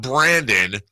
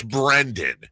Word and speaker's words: Brendan: It's not Brandon. Very specific. It's Brendan. Yeah.